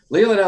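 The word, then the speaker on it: Leelanau: leah now laying out leonow sellers leela now see yeah there i am miss pronouncing it leela now sellers it's a winery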